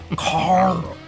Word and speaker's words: Carl: You got to say it like Rick from The Walking Dead. Carl.